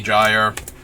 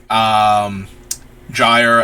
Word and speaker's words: Gyre: spelled this way, if Gear is one of the actual pronunciations. I thought it was at the time, and I kind of like the hard G more for him.